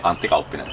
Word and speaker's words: Antti Kauppinen: Pronounce it? Yeah, Antti Kauppinen.